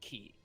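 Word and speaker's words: χ: In the game, they use the subtitles and they put this X there, but they say key. They pronounce it key.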